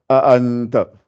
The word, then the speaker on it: أأنت: Donc articulez bien. Souvent, quand on lit, on ne fait pas attention à ces choses-là. A-anta, A-A.